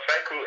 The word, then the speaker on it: Seikou: So Seikou actually means success in Japanese.